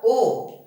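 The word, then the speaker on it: を: ये लिखा हुआ तो वो है पर बोला जाता है ओ, हीरू गोहान ओ ताबेमास, तो ओ बोला जाता है इसको। प्रोनाउंसिएशन इसका ओ है और लिखा हुआ ये वो है।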